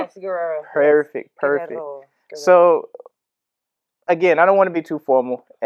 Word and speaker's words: Guerrero: Did I say it right, Guerrero? Yes, Guerrero.